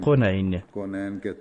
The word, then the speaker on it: quinine: Dans le sous-continent indien, on prononce quinine Qonain, qui signifie en arabe 2 mondes.